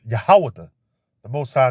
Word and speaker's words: Judah: tribe and they're the tribe of Judah which is pronounced yahawada the most high name